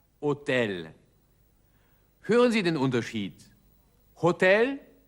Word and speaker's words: hôtel: Im Französischen wird dieses H nicht ausgesprochen. Es heißt also Hotel.